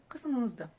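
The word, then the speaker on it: қасымыңызды: Касымыңызды. Ка, са, каса, касыма, касымыңыз, касымыңызды. Если вдруг что-то не получилось, сейчас объясню. Буква «ы» везде читается очень и очень коротко.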